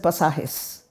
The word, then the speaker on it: Pasajes: I pronounce it pasajes, and it's chapters.